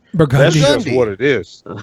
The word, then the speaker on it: Burgundy: Like there's a street called that is spelled Burgundy, but we call it Burgundy. Burgundy.